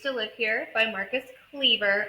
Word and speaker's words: Kliewer: Okay, so We Used to Live Here by Marcus Kliewer. I know there's no V in his name, but that's how you pronounce it.